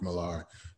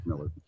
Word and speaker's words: Millar: of mark miller who i keep wanting to say his name is mark milar but i know he's not we know it's mark miller though but yeah it's marketable